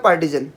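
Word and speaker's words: partisan: पार्टीजन, इसका word का मतलब है पार्टीजन, इसका प्रोनाउंसिएशन पार्टीजन है।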